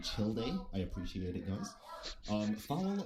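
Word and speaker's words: Childe: as well he said we call him chill day i appreciate it guys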